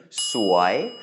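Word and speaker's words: สวย: and finally the word sway means beautiful or pretty and you will hear this word a lot in Thailand in many contexts do make sure you pronounce it with a rising tone sway because otherwise there are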